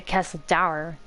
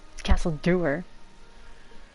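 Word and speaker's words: Castle Dour: Imperial Quests for the Civil War I was pronouncing a castle dower apparently it's Castle Dewer wow the more you know I still can't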